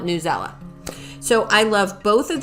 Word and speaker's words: Newsela: between pear deck and newsela or news ela i've heard it pronounced newsela and i've heard it pronounced news ela but i'm going to call it newsella so i love both